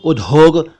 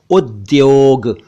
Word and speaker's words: उद्योग: है उद्योग यानी इंडस्ट्री इसे कुछ लोग उदोग कुछ लोग उद्योग और कुछ लोग कुछ और कहते हैं जबकि यह है उद्योग इसी से बना औद्योगिक